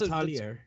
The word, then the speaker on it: Atelier: On Friday, we have, maybe you can help me out with how to pronounce this one. Is it Atelier Sophie too? This one's... That's Atelier.